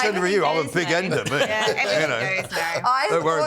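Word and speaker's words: bigender: And I thought genuinely this was what it was, this was how you pronounce it, big ender. But it turns out that was bi gender.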